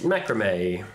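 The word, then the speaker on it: macramé: Macrame.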